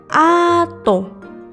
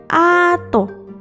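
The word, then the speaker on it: アート: Jadi, ditulis dengan huruf katakana a, strip, to, ato. Seni dalam bahasa Jepang juga bisa disebut ato.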